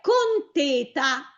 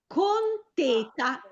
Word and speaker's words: conteta: È conteta. con teta con l'accento sulla e ed è un accento chiuso con teta.